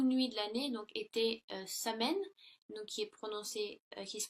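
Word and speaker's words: Samhain: Et si vous voulez, dans le temps des Celtes, la plus longue nuit de l'année donc était Samen, donc qui se prononce Soyen.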